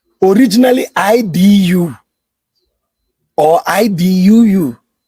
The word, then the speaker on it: Edo: Now, the word everybody is calling Edo is a mispronunciation. The word you are calling Edo in English, the EDO is Idu. Originally IDU or IDUU, not Edo, Idu.